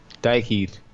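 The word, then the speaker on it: Dhyck Heed: Dyke Heed.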